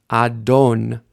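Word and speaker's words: אדון: of VAV let's read some words with anduk Adon a d o n nun letting her foot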